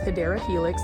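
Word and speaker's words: Hedera helix: This one is a Hideera Helix, or the correct way to say it is Hideera Helix.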